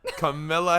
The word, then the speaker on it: Kamala: Kamala Harris. It's okay. You said her name wrong.